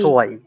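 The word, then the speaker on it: zwei: টু, দুই, জি জি সোয়াই। এখানে সোয়াই হলো কেন? কারণ এই যে ইআই একসাথে থাকলে এটার উচ্চারণ হয় কি?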